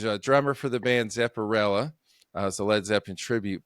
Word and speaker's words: Zepperella: it up she's a drummer for the band Zepparella a Leed Zepp and tribute band but she's